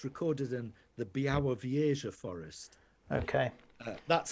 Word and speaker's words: Białowieża: And I'll also give you yet another variation on the pronunciation of that eastern Polish forest. It's recorded in the Białowieża forest.